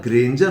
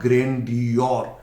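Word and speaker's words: grandeur: और नाउन इसका होता है ग्रेंजर, नॉट ग्रैंडियोर। कुछ लोग स्पेलिंग के आधार पर इसका प्रोनाउंसिएशन करते हैं ग्रैंडियोर, नो ग्रैंडियोर। अगर आप ग्रैंडियोर इसका प्रोनाउंसिएशन सुनते हैं that is 100% wrong. Correct pronunciation is ग्रेंजर।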